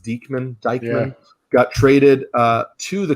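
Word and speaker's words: Deichmann: so phil um greg i think it's pronounced deekman got traded uh to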